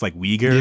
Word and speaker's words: Uyghur: I hate attempting to pronounce that word, but it's Uyghur.